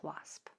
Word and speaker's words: wasp: However, if you hear a after a w, you're going to notice that it's spelled with an a. Same sound, two different spellings.